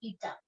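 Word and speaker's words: eta: इसका अगर आप प्रोनाउंसिएशन करोगे तो इट विल बी ईटा, है ना।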